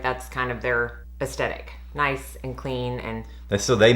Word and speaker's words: Nice: It's spelled nice, but I think it's Nice.